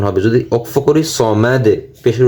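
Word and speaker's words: الصَّمَد: দাল পেশ দু, সমাদু সমাদু। আল্লাহুস সামাদ, আল্লাহুস সামাদ। অক্ফ করলে সমাদ। শেষে যদি আমরা ভেঙে ভেঙে উচ্চারণ করি তাহলে সমাদু, দাল পেশ দু উচ্চারণ হবে। যদি অক্ফ করি সমাদ, পেশের উচ্চারণ হবে না।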